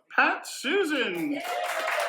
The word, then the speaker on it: Pastuzyn: And our good friend Susan Pastuzyn. Yes, I did say that correctly. Her name actually does rhyme. I double-checked that I'm saying her name correctly, and she said, yes, that's how you say it.